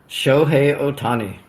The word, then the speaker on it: Shohei Ohtani: Shoi Otani.